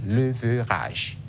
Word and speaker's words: leverage: Ça s'écrit leverage. Leverage. Comme oui, leverage, mais on lit leverage. Leverage. Je profite pour dire les mots terminés par A G E ne se lisent pas age à la fin.